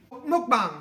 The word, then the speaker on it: mukbang: Mukbang. They pronounce it as mukbang.